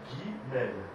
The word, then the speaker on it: Guimel: m'excuse la lettre Guimel elle-même comment elle se prononce Guimel donc dans la racine de Guimel on a